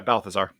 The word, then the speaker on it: Balthazar: Um, you know, even the the battle of um between Matias and um is it Boltzar? How does he pronounce it again? Michael Clark Duncan's character. Yeah, Balthazar.